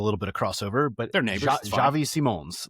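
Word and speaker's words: Xavi Simons: It's he pronounced it Javi Simones almost a little bit like French-like even though he's Dutch which we get the crossover there like there there's a little bit of crossover but Javi Simones like that's that's so I get it.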